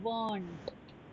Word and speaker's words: weren't: इसको कैसे weren't pronounce करोगे आप, आंट, र का उच्चार नहीं आएगा, आंट। हाँ, इसका रहेगा wasn't, और इसका रहेगा weren't.